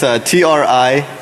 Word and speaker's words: Trinary: It's TRINARY, Trinary, like 3 naries. All right, so Trinary Trinary software is a